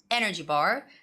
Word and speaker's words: energy bar: You have to stress the first noun, energy bar.